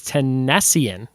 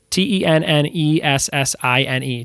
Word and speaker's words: tennessine: Number 13, TS is like the word Tennessee, but it's Tennessean. No, Tennessean? Tennessine. Tennessean.